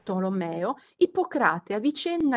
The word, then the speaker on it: Ippocrate: del medico greco sia ipo crate secondo la pronuncia greca e non come ci aspetteremmo appunto ippocrate alla latina e all'interno degli scritti